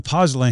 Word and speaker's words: pozzolan: The pozzolan, is that how you say it?